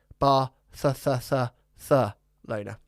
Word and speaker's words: Barcelona: how is it you you have to say three times bar th th Lona it's how it's officially pronounced yeah officially pronounced but